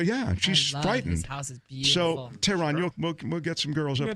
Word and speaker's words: Tehran: literally at I am Tehran I am teh RA in like the capital of Iran my name is the